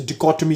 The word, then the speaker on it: dichotomy: वैसे इस वर्ड को आपको शायद आपने सुना भी नहीं होगा, इसे डिकोटमी कहते हैं, इसे डिकोटमी। इसको आपको देखना है कि कौन सा, मैं प्रोनाउंस नहीं करूंगा, आपने मैं डायरेक्टली आपको आंसर बताऊंगा।